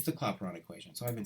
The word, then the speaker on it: Clapeyron: this wrong all along no it's it's the clapeyron equation so I've been saying it correctly I